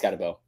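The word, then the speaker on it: Skattebo: I think 5 would be Cam Scabato. Am I pronouncing that correctly? Scabato. It's either Scatabo or Scatabo. It's Scatabo.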